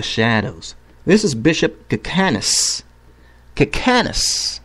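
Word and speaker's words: Kicanas: Cacanus, okay? I'm not mispronouncing it. This is his name. Bishop Cacanus. K-I-C-A-N-A-S. Cacanus.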